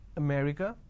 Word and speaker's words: America: and all that now the correct pronunciation is if i have to break it down to syllables so there are four syllables or may recur now in northern part of the country they pronounce this as um so they drop a syllable instead of saying america